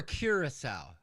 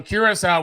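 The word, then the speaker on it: Curaçao: Is the it beaches- Curacao or Curacao? I call it Curacao. I feel like Um, you're more accurate in your pronunciation. Well, it's like, cocoa cake, cocoa key.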